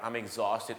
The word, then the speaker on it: exhausted: exhausted นั่น เอง ครับ I'm exhausted ออก เสียง คล้าย ๆ อะไร ฮะ วัน นี้ นะ ครับ คุณ นั้น กิน อาหาร อะไร นะ ฮะ ซอส ติด ปาก ออ ซอส ติด ออ โทษ ครับ ซอส ติด exhausted จบ ข่าว ครับ ผม